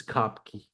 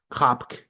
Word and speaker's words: Kopke: This is Kopke. I think you pronounce it Kopk. Some of us will say Kopke. I said Kopke forever until they corrected me about 10 times.